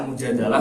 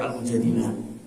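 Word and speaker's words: المجادلة: Sebagaimana kemudian dalam Quran surah Al-Mujadilah itu disebutkan ada yang menyebutkan membacanya Al-Mujadalah, ada yang Al-Mujadilah.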